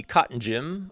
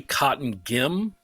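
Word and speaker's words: Cottongim: The adult player of the year is Christy Cotton Jim of Alvatton. I hope I'm pronouncing that right. I apologize. It's actually Cotton Gim. Cotton Gim. Okay.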